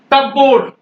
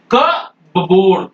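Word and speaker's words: cupboard: भा बोलेंगे ये देखिए कप बोर्ड ये अब कप बोर्ड नहीं है क बोर्ड कबर्ड कबर्ड है और ये न्यूमोनिया न्यू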